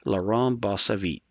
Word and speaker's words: Laurent Bossavit: of Software Engineering and I'm pretty sure I butcher his name every time, but I'm believe it's pronounced Laurent Bossavit.